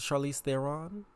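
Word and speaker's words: Charlize Theron: me the most was Charlie Theon cuz you see that is how you pronounce Charlie Theon y'all know her uh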